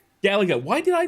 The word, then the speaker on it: Gallagher: I'm going to say your last name wrong, so I'm going to let you introduce yourself. Gallagher. Gallagher.